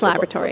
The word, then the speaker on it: laboratory: at our new laboratory labor laboratory laboratory La laboratory that's the correct way to say it it's laboratory laboratory uh I have with